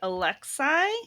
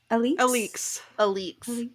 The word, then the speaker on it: Alix: The other person we meet who was in that fire scene, her name is, I'm going to mispronounce it probably, Alexei? How'd the audiobook say it? Was it Alix? Alix.